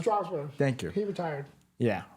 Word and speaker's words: Strasburg: How do you pronounce that? Strasburg.